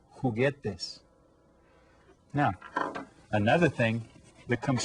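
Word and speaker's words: juguetes: a lot of times who get this can you say that who get this you hear how the J is pronounced kind of like an H who get this now another thing that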